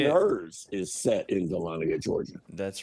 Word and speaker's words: Dahlonega: Up here in Dahlonega, Dahlonega. Georgia. Oh, the new Netflix show. I saw that. His and- Well, I haven't His seen and it. Hers is set in Dahlonega, Georgia.